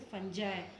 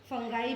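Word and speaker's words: fungi: ये होते हैं जैसे फंजाई, फंगाई भी बोलते हैं इसको, फंजाई भी बोल सकते हैं और फंगी भी बोलते हैं। कोई भी कुछ इसको प्रोनाउंसिएशन करने के 2-3 तरीके हैं, फंजाई, फंगी, है ना, ठीक है।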